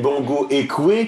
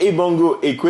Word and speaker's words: Ebongo Ekwe: Bongo Ekwe qui a reçu... Ebongo. Oui, Bongo et Bongo. Voilà, rien à voir avec Bongo. Oui, rien à voir. C'est Ebongo Ekwe, il faut bien prononcer.